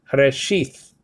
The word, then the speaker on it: Bereshit: all, it says okay, Bereshit or Reshith. Okay, depending where you live. Okay, Yemenite or whatever the case may be. Bereshit. Israel or Yisrael actually pronounces it Reshit with a t sound, with a t sound.